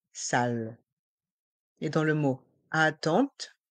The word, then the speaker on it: attente: et dans le mot attente le E et le N font le son en la salle d'attente la